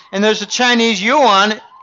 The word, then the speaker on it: yuan: it the R&B because when you say yuan, you can I mispronounce it. It's yuan. I've got Chinese clients who say, Jim, it's it's yuan.